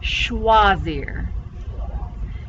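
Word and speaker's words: choisir: close no all right everybody say schwazir yeah sh sound for ch when you pronounce it in french and then that oi is a wah always so what does schwazier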